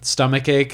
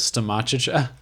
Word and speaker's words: stomach ache: Oh, he said that he pronounced in an episode stomach ache as stomachicha.